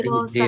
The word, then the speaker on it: الدراسة: Nah, nanti ini cara bacanya kita hayya Hayya bina bina nabda nabda'u hadihid نبدأ هذه dirosah. الدراسة Dalnya dirasa kita baca kasroh.